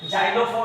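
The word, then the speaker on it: xylophone: तीसरा रूल होता है शुरू में अगर एक्स आ जाए तो वो ज हो जाता है। जैसे जीक्स हो जाता है, जाइलोफोन हो जाता है यानी कि जेनोन हो जाता है।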